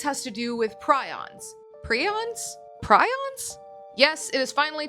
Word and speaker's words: prion: The pronunciation is actually preon and despite the internet itself in different articles stating that you can pronounce it both ways, in academic documents and settings, preon is the only way you should be pronouncing